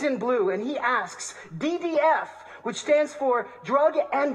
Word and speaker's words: DDF: I'm in orange, he's in blue, and he asks, DDF, which stands for drug and disease free, with the accent on the second D for disease.